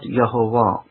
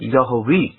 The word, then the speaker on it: Yahweh: Yes, you can pronounce it Yehovah, and I don't want to say that you can't pronounce it. You can. You can pronounce it Yehovah as much as you can pronounce it Yahweh. You can. You can pronounce it Yahweh as well, as the old Africans did. Yahweh is another form that they pronounce God's name as.